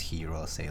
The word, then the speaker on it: Hirose: I mean, it's Hirose as in like you know, because they go on like Japanese branded items, and so I'm pretty sure that's Hirose, like you would pronounce it in Japanese.